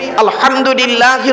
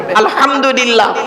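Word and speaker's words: الحمد لله: নামাজ পড়তে গিয়ে আমরা সূরা ফাতিহা পড়ি আলহামদুলিল্লাহি রাব্বিল আলামিন। আলহামদু এই গলার ভেতর থেকে হেটা উচ্চারণ করবেন, আলহামদুলিল্লাহ।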